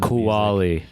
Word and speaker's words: Cualli: and like all over the pronounced kuwali and you can get